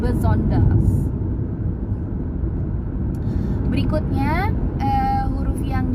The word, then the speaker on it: besonders: Ini kalau kelihatannya cara bacanya itu seperti yang tertulis besonders, tapi kan intonasinya agak berbeda sedikit gitu. Jadi harus disesuaikan, besonders.